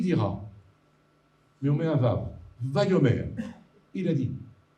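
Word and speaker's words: וָו: Il y en a une qui est le Vav, qui est une petite lettre toute droite comme ça, qu'on prononce Vav, Ve en français, qui est une lettre incroyable.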